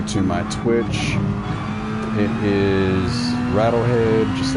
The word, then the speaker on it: ratlhed: always switch over to my twitch it is rattle head just like it's pronounced the same but it's spelled different it's